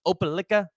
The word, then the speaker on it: Opelika: out of I pronounced I believe it's pronounced Opelika Alabama at 65 and a